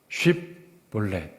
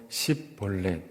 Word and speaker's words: 쉽볼렛: 하는 것은 강 또는 가라고 하는 뜻입니다 그 발음해 봐라 그래서 쉽볼렛 이렇게 하면 괜찮은데 그러지 못하고 십넷 이러면 왔다 이런 얘기예요 제가 예전에 서울에서 대학교